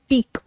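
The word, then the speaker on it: pique: Okay, word थोड़ा सा मुश्किल है, ये फ्रेंच ओरिजिन का वर्ड है और इसकी प्रोनाउंसिएशन है पीक।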